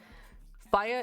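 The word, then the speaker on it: Fya: Fire is spelled F-Y-A. So my first impression when I read that, I thought it was F-Y-A. I thought it stood for something. And then I heard the song.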